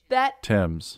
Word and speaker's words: Thames: It says how to pronounce Thames. Wow. Thames.